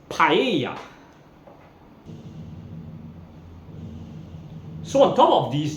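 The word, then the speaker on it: paella: Hanan in Spanish and if you have two letter L's in a word together it's actually pronounced as the letter Y so the famous dish in Spain is pronounced paa is not Pella it's paa so on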